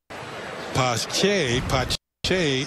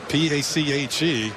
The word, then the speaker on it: Pache: Pache is how you pronounce that. P-A-C-H-E, Pache.